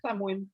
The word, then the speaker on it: Samhain: que vous voulez, mais on a appris dernièrement que ça se prononçait Samhain. Samhain. Bon. Ça ne s'écrit pas comme ça, donc c'est un peu mêlant pour certaines personnes, mais bref, ce sera